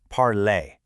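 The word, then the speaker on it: parler: Think of the word parlay. Listen to that tight ending parlay.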